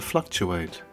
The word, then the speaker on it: fluctuate: the noun a peak the verb to fluctuate stress on the first syllable to fluctuate to fluctuate now a fluctuation a